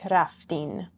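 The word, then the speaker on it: رفتید: For the shoma form in spoken Persian, you know we drop that d sound at the end. So raftid sounds like raftin.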